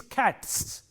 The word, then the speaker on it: cats: like cat, C-A-T, cat, this sound t is a voiceless sound, and therefore, when you make it a plural, it takes a voiceless sound again, s. So, it is cats.